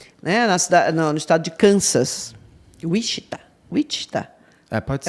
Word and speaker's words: Wichita: Ele e mais 3 irmãos, né, no estado de Kansas, Wichita. Pode ser. É Wichita. A pronúncia é que nem Massachusetts.